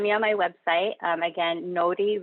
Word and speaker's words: Nori: Again, Nori Reiki, N-O-R-I, but you pronounce the R like a D.